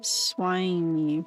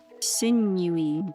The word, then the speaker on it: sinewy: I would say swiny, but sinewy. Okay, sinewy. How you say it?